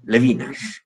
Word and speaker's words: Levinas: sé otro filósofo levina levinas se conoce muchas veces la castellanización como levinas pronunciaría levina Emmanuel levina este hombre dice una